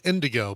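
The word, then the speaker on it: NDG: awesome they perform as Indigo but it's spelled n DG four letters n DG but pronounced Indigo get it I get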